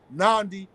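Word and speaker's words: Nnamdi: do your research on the case of Mazi nandi kuu International politic that for me brother me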